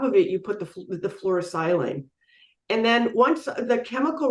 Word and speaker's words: fluorosilane: take your photoactive nanoparticles and the fluorosilane, is that pronounced properly? Yeah, fluorosilane or fluorocarbons.